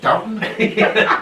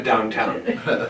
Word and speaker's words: Downton: Downton? Well done. Well done. God. And it's not even close to downtown.